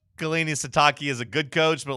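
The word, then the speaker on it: Sitake: Satakei.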